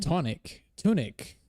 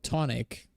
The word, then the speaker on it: Tunic: Where I'm saying tunic. I say it like with an O, tonic. No, it's not tonic, it's tunic. Okay, is this the song that you want me to do, Jonathan?